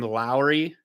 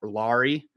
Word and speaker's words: Lauri: now Laurie Markington I I gotta start saying his name Lowry because that's how you say it uh not Laurie uh so Lowry you